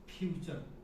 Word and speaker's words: future: फ्यूचर, है ना? तो इस तरह से ध्यान रखना है। मतलब क्या कि T के बाद में URE आए तो T का उच्चारण च होगी, इसमें कोई संदेह वाली बात नहीं है।